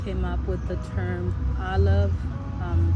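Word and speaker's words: Aloave: unscented so the name Olive um it's spelled a l o a v e it's pronounced Olive it has the the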